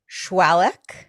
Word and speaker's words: Shwaluk: Shwaluk.